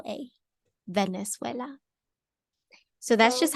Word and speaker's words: Venezuela: don't see a w I don't see a w no there is no W it's v n e z u e l a Venezuela so that's just how